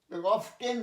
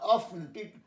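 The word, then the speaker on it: often: Buses কাম মোর frequent, buses কাম more অফেন, অফটেন নয় অফেন, টিটা silent হয়ে যায়। বাসেস কাম, যেমন সফেন নরম করা, সফেন, বাসেস কাম মোর অফেন দেন ট্রেইনস।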